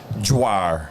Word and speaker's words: Dwyer: from Brian Brian Dwyer I think it's Dwyer that's how you pronounce it I know how to spell it but I don't know how to pronounce it is it d-w-y-e-r it's d-w yeah that's exactly how it is dryer yes he's super cool